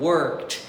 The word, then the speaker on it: work: E no presente, é só você falar o K um pouquinho mais fraquinho que vai ficar bonito. Work. Nunca diga work. Ele não é um K sonoro, ele é um K que fica aqui na garganta, work, viu aí?